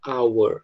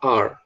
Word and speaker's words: our: Quando ele é pronunciado isoladamente, a gente fala our, tá? Our. Mas quando ele está dentro de uma frase, a gente geralmente fala are, certo?